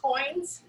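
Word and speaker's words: quoin: But just like on the other press, I mentioned that we use coins. And that's spelled with a Q and a U.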